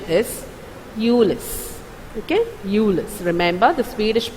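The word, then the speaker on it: mjölis: And this sound, O, with two dots on top of it, is actually U sound. Okay, Julis.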